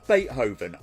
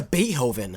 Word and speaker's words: Beethoven: going to freak out did you like forget to pronounce the T Beethoven Boven how in the actual you get bethoven where's the tea my brother all right